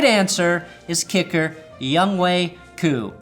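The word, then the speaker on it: Younghoe Koo: right answer is kicker young way coo properly pronounced young hoku not because of his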